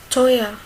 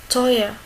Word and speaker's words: teuer: E, ou. Il se prononce comme oi. Oi. Oi. Teuer. Teuer.